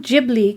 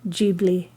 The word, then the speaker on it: Ghibli: out at the time the name ghibli came from the arabic word meaning hot air blowing in from the sahara desert hayao miyasaki changed the pronunciation from a hard g to a soft g and totoro is a